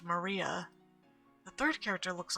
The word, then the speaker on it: Maria: name is written this of course this is pronounced Maria the third character looks like a cross which